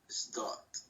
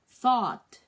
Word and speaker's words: thought: dot. No, it's thought. Thought. Okay. Thought. Yeah. Fabio, yeah. When you pronounce the TH, okay? This one. Okay? It should be between your upper teeth and your lower teeth, like, okay, for example,